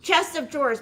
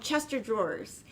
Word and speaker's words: chest of drawers: Chest of drawers. But when I was a kid, we called them Chester drawers. And then people are like, that's not how you say it.